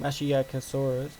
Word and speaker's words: Masiakasaurus: of facts and stuff like that so it's pronounced masiakasaurus which means uh vicious lizard apparent which is